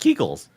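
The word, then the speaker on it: Kegel: Kegles. More kegles. Kegles. Keigull. Keigull. Is it Keigull? That's not Keigull. It's pronounced Keigull.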